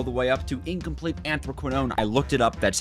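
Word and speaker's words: anthraquinone: chapter 3 all the way up to incomplete anthroquinone I looked it up that's how you pronounce it is chemistry we need to take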